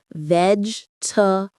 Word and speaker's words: vegetable: Don't pronounce every syllable. It's vegetable.